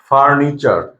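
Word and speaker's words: furniture: টি যদি থাকে আর টি এর পরে যদি ইউ থাকে তাহলে টি এর উচ্চারণটা হবে সবসময় চ এর মত যেমন ন্যাচার ন্যাচার মানে হচ্ছে প্রকৃতি আমরা বলি নেচার ওকে নেচার মানে হচ্ছে প্রকৃতি ফার্নিচার ফার্নিচার টি ইউ আর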